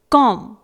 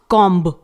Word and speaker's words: comb: Third one है COMB, इट इज कॉम, नॉट कॉम्ब, इसे पढ़ेंगे कॉम।